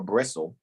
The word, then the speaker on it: Bristol: Superintendent Stevens, who had formerly been an inspector at Bristol, or Bristle, depends on how you pronounce it, took charge of the 1st Division, whose headquarters were at Bibsworth.